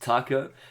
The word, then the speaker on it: Taco: Yo, I'm your other host, Taco. That's pronounced like the Mexican food.